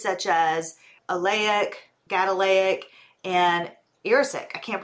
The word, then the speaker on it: erucic: It has fatty acids such as oleic, gadolinic, and erucic. I can't pronounce them. I'm gonna spell it. E-R-U-C-I-C. Actually, do you know how to say that? Erucic? Oh, no. You're sick. Erucic. So due to the fatty